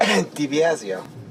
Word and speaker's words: Debiasio: How do you say it? Debiasio. Debiasio. There's no L in it.